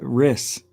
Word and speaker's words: Rys: Yeah, he's Jeremy Riss. Yeah, you couldn't pronounce his name, but to be fair, I would have said his name like that. Spells it RYS. How's that Riss?